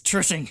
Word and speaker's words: TRCNG: It's Tracing. Yeah, exactly. It's Tracing. It's like we can't. It's got to be Tracing.